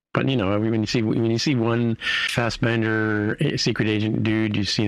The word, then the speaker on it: Fassbender: And Michael Fassbender, how do you say his last name? Fassbender, yeah. Fassbender. He's an Irish actor, by the way, even though he's got a German name.